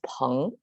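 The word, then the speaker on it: 朋: So it's pronounced as peng.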